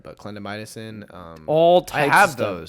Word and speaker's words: clindamycin: Yep, like tretinoin, clindamycin. I didn't pronounce that right, but clindamycin.